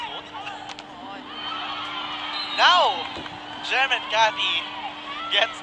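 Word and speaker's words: Nuc: That off speed coming from Nut Shulim. Now serving number 18. Look. Diba? Yun yung confusing na part eh. Ang spelling daw ay N-U-C, but ang pronunciation is like Nut.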